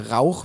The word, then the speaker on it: Rauch: Rauch means smoke, that guttural CH, Rauch, which is very hard to pronounce for a lot of people from England or with English language background.